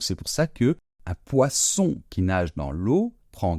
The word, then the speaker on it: poisson: d'accord donc poison donc je répète le premier un poisson et le deuxème un poison donc j'espère que cette fois-ci